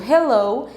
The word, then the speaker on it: Hello: de cada um deles percebam que os dois começam com a letra h e nestas palavrinhas a gente percebe que o h tem esse som de R Ray Hello é um sonzinho